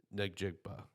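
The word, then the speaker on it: Njigba: For me, I finally have my first wide receiver off the board, uh, with Jackson Smith, Nejigpa.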